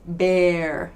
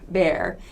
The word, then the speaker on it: bear: spelling Heat eh but be careful not all words spelled with EA are pronounced with a long e sound for example bear de AR that's pronounced bear bear so heat is pronounced